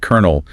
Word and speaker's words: colonel: So you just have to learn that colonel is K E R.